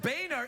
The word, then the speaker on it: Boehner: children there yeah partner border I know it's pronounced Boehner it's a genuine mistake you know Boehner is